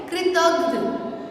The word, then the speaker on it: कृतज्ञ: अगर आप कृत घन बोलते हैं तो उसका मतलब है घ पूरा, लेकिन यहाँ पर घ आधा है तो उसे हम कहेंगे कृतज्ञ। ओके, ध नहीं घ, कृतज्ञ।